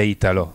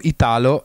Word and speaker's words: Italo: come poi mi dicevi, non si dice Italo, lo diciamo solo noi. All'estero tutte le volte, cioè tutti la chiamano Italo e quindi si dice Italo, in Italia è Italo Disco, non Italo.